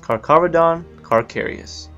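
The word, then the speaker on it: Carcharodon carcharias: all the major oceans their scientific name is pronounced carcavedon carcarius their mass can be around 1 500 pounds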